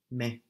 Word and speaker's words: mais: Mais.